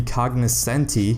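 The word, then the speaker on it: Cognoscenti: and I might have mispronounced it earlier it's pronounced the cognis Senti and so the price of it is just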